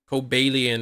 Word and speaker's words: Cobalion: the book according to the guidebook that shows the ways to say the name cobalian is the correct way yeah I remember trying